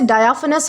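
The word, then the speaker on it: diaphanous: दोस्तों, इसे डायाफिनस प्रोनाउंस करते हैं।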